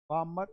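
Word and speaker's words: Balmer: बा सीरी के सेकंड बामर स एल इसमें साइलेंट होता है बामर सरी तो लिखलो इसके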